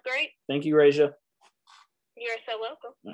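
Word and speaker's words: Rajah: Raja, yes. How do you spell that?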